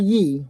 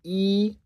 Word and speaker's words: Yi: And then it's Yi. Not Yi with the Y. It's E. E. That's 1 in Chinese.